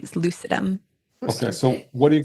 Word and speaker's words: lucidum: So reishi mushroom is Ganoderma lucidum, and lucidum also like lucid. It means like light or bright. And so our company's name is Lucidum.